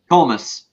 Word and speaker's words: Comas: your nice name again komas so it's like a coma with a S I didn't want to